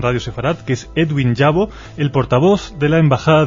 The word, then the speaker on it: Yabo: Yo, ¿cuál es el origen del apellido Yavo, Edwin? Bueno, pues en realidad es Yabo. Yabo sería la correcta pronunciación, pero al haberlo escrito